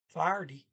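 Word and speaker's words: ferdig: so when are you farty yeah this is f e iris fire party the g is silent f-e-r-d-i-g paw uh at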